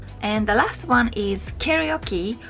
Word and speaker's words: karaoke: the last one is karaoke which we pronounce karaoke you probably already know